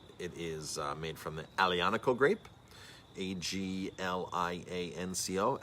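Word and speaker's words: Aglianico: is made from the alianical grape a-g-l-i-a-n-c-o alianaco the g is silent so that is uh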